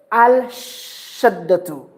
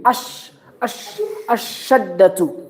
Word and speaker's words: الشدة: Always will be having shadda on the top, and then the lam will never pronounced. Will never mentioned. Don't say al-shaddatu. No. Don't pronounce al. Don't pronounce. You go direct from a to shin. Ash-shaddatu.